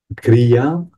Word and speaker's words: kriya: cria le en fait le le mot le la racine en fait c'est cri donc K r qui se prononce cri en général et ce cri peut